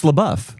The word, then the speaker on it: LaBeouf: LeBeouf, and you've heard it so many different ways, haven't you? LeBeouf, LeBeouf. It's LeBeouf. LaBeouf.